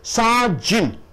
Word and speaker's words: sergeant: அடுத்தது சாஜின், சாஜின் 2 சத்தங்கள். சாஜின், சார் கழுத்தம் கொடுக்கணும்.